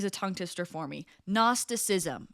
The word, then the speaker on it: Gnosticism: Gnosticism. Okay, it's spelled G N O S T I C I SM.nosticism.